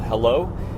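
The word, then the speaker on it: Heilo: guys to a new app coming out called hello it is spelled h e i l o uh I've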